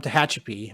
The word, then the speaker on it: Tehachapi: it's wild yeah so so you are from tehachapi my i pronounce that right right hp yeah you know